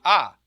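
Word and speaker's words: Aa: our local river is the ah a a that's how you spell it just a little food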